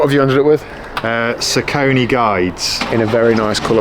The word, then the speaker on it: Saucony: you know, so I'm gonna have to go with what I like to run in, which is the Saucony ones.